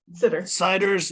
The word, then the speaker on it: Sider: So today we have a presentation from Sider. I'm not sure, is that how you pronounce your last name? It's Sitters. It's pronounced Siders.